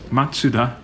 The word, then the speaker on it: Mazda: Maybe a bit more of an obvious example is Mazda in the West is Matsuda in Japanese, which is, it feels a lot more Japanese, right?